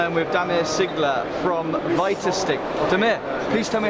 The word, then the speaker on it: Vitastiq: So it's Vitastiq, you can also pronounce it Vitastiq.